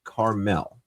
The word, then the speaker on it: Carmel: It's the mountain in northern Israel and is pronounced Carmel. Yes, Carmel. Are we saying caramel? I'm I'm calling it caramel anyway.